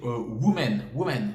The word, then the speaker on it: women: Beaucoup de personnes disent women pour dire les femmes. Women, ça se prononce women.